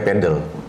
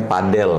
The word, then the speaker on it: padel: Aku tuh pernah ditegur sama ee istriku gara-gara ngomongnya pedel. Ee istriku bilang, "Sayang bukan pedel ngomongnya padel."